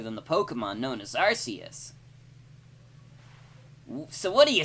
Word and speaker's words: Arceus: Also, I do know that the official pronunciation is Arceus, but I consider that a retcon. It was definitely supposed to be Arceus until they realized that Arce is kind of a rude word.